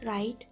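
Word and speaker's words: write: For example guitar card next W when W comes before are इट is silent अगर डब्ल्यू आर से पहले आता है तो नहीं बोला जाता है। For example राइट wrong that set.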